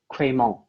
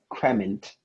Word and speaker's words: crémant: Crémant. And Michael, Cray- could you put your hands in the frame? Cremant? Crémant. Cremant. Can I have all the information, please? Yes. The word is crémant, also crément. It's an adjective coming from French.